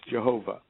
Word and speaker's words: Jehovah: great name Yod He Vav He, which we pronounce Jehovah.